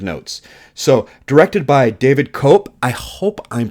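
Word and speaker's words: Koepp: so directed by David cop I hope I'm pronouncing that right I think I heard somebody in an interview say that it's cop KO OE PP I've seen him do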